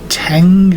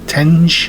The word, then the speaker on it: Tenge: Is it Tang or Tangi? Tenge.